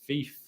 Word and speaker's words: Fife: FIFA pronounced like FIFA without the sound at the end. It is a slave, but if it's in the 42nd state of Washington near Seattle, which phonetically is like cattle, then it's pronounced Fife.